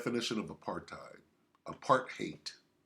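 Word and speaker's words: apartheid: of a part time apart hate apart hate that's how they say it in South afca apart hate a policy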